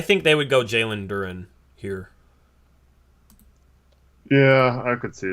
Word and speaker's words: Duren: Wait, how do you say it? It's Duren. Yeah, Duren. Okay.